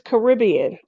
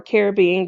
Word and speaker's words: Caribbean: Um, this is Caribbean or Caribbean, depending on who's pronouncing it.